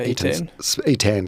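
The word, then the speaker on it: Iten: EAN spelled it T E N.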